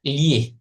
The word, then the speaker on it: gli: Ini bacanya li.